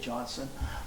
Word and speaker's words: Johnstone: by Keith Johnstone uh probably he pronounces it Johnson but it's spelled Johnstone uh and uh he